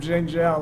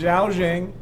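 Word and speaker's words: Zhao Zheng: is the character xiaozhing I think I pronounced him xinjiang last time it is Zhao Jing and he is she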